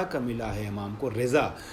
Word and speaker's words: رضا: ملا ہے امام کو، رضا صحیح تلفظ رضا ہے، ہم رضا کہتے ہیں